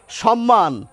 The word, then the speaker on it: সম্মান: সম্মান, দুটো ময়েরই উচ্চারণ আমরা করি।